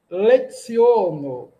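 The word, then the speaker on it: leciono: Dua leziono. Opa, o C tem um som de TS, nós evitamos nasalizar. Dua leziono.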